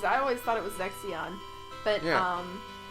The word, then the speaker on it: Zexion: was like the scholar is not zessin like I thought it's zexion yeah I always said it was I always thought it was zexion but um it's still